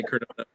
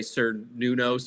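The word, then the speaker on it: Cernunnos: It was not with the hard C. It was with the S.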